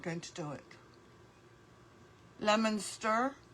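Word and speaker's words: Leominster: Lemonster. Oh, pronounced lemonster. Oh, sorry. I said it wrong, but you know what it says? Leo Minster. Sorry. Sorry, Lemonster.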